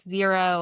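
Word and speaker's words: Xero: We like Zero. It's spelled X E O.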